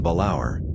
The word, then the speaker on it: Balaur: stratum the generic name balaur three syllables stressed on the second slash a slash is